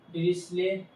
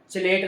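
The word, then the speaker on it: Dirichlet: आपको भाई ज्यादा मतलब डिस्ले ये है यहां तक ये स्ले बोला जाएगा चलेट नहीं ठीक है मैंने चलेट बोला फिर मैंने देखा नहीं स्ले ठीक है डिस्ले कंडीशन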